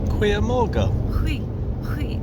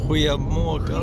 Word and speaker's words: goedemorgen: Goedemorgen. Goeiemorgen. Because they don't pronounce the G. Goeiemorgen.